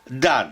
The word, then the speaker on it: dam: condanne et nous explique dan condamne l'EM de cette terminaison ne se prononce point et n'y est mise